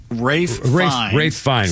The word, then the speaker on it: Ralph Fiennes: Ralph Fiennes? Is that how you pronounce it? Rafe Fiennes.